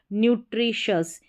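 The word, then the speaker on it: nutritious: फिर आगे का पैटर्न है TIOUS, इसको भी शस करके पढ़ा जाएगा, ये भी लास्ट में आएगा यहाँ पर, जैसे कि इन स्पेलिंग्स के लास्ट में है। ये हो गया न्यू, और TRI को ट्री करके पढ़ा जाता है, न्यूट्री, और शस, न्यूट्रिशस।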